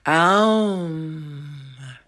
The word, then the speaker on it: Om: They actually recorded Om, which is pronounced more correctly, Aum.